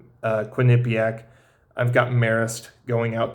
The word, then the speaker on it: Quinnipiac: I think I'm pronouncing that right. Quinnipiac.